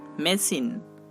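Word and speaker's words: machine: Next CH, এই দুইটি লেটারও তালবশ র উচ্চারণ করতে পারে, যেমন মেশিন, মেশিন।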